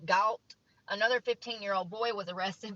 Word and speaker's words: Galt: In Galt, it's spelled like salt, but with a G, Galt.